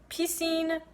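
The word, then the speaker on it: Piscine: this man's name is P Singh Patel yes he's seen if you know French pool swimming pool but because everyone kept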